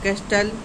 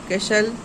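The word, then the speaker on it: castle: यहां पर लिसन आपका कैस्टल तो यहां पर कैस्टल नहीं पढ़ेंगे कैशल और आपका विसल और आपका मैच तो यहां पर सब में आपका टी है।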